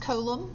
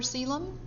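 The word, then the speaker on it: coelom: that's similar a celum the word looks like it would be pronounced colum but it's pronounced celum and a is just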